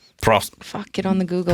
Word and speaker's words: Prost: How do you say cheers for German? Prost.